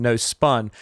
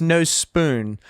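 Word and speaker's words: Nospun: Uh but you might notice that it's spelled no spun, which was a little confusing for me at first because I was calling them no spun, but it's no spoon.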